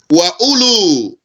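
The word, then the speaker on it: أولو: muthana the Dual form Ula here ULU this WOW here is silent so don't say that's ULU only that's one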